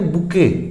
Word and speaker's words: bouquet: इसके बाद कुछ और वर्ड्स है जैसे BOUQUET, ये जो वर्ड है इसमें T साइलेंट होता है, तो इसको हम क्या बोलेंगे, बुके।